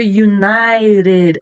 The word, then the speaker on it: United: A letra T virou um R. Ó, United. Quando antes eu tenho uma vogal e depois eu tenho uma vogal. Isso quando está no meio de uma palavra. Então, vai ficar R.